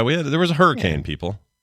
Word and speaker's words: Hurricane: Utah just before St George is literally called Hurrican it's spelled it's spelled hurricane but uh pronounced yeah people call it hurri